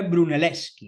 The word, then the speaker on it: Brunelleschi: En este caso fue Bruneleski, ¿no? Ya hablaremos de él porque este este Bruneleski, ven que se escribe brunelleschi, pero en italiano la ch se lee